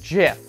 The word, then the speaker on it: GIF: it's an art website we got some cool gifts here gif jiff whichever camp you landed on that one it's jeff it's pronounced jiff so our next website is kind of like